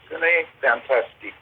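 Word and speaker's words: Cinefantastique: Yeah, Cine Fantastique. It's a French one, Cine.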